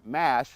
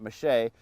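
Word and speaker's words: mâche: that on the radio saying it's called corn mash not mache that's the French pronunciation but I did an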